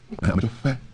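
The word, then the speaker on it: Amedzofe: This is Amajofe, very beautiful place. Can you pronounce Fe? Amajofe? Fe? Fe? No, you have to blow on a candle. Fe? Fe? No, not Pe. Amajofe.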